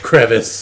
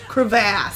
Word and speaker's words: crevasse: on the fearsome gooch crevice. Oh god. I believe it's pronounced crevasse.